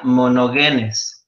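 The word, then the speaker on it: μονογενής: la palabra ong nito en el griego es o se pronuncia mono genes y quiere decir el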